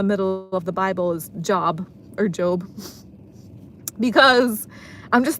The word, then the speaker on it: Job: And in the middle where I opened it, it was the book of Job apparently, but I think that's how you pronounce it. but it's actually spelled J O B like job.